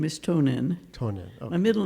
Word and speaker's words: Tonen: So I wanted to make sure I pronounced it right. Well, my legal name is Tonen.